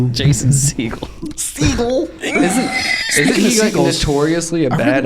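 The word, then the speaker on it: Segel: oh seagal what is it with you in pronunciation dude seagal this is jason siegel oh my gosh anyways um so yeah i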